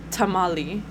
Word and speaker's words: tamal: adopt the bastardization of tamali the NAT word and added that e that wasn't supposed to be there unless it was for a plural tamales so it really the singular should just be Tamal but it's a bastardization